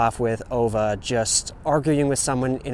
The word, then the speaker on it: Ove: about the character OA and I Google it apparently it's supposed to be pronounced OA we're definitely supposed to